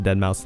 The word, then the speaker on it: deadmau5: And this was just Kanye trolling, writing out the most common mispronunciation of deadmau5's name at the last part.